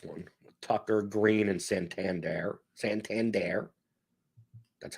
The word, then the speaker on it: Santander: Santander. That's how you pronounce the name.